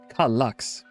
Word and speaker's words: Kallax: Kallax.